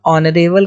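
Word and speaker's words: honorable: नहीं, यहाँ पे जब आप ऑनरेबल कहते हैं तो आपको पता होना चाहिए एच साइलेंट है। एच क्या है? साइलेंट है। तो जब आप बोलते हैं तो क्या निकल रहा है?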